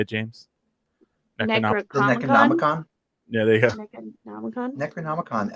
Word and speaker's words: Necronomicon: Necronomicon.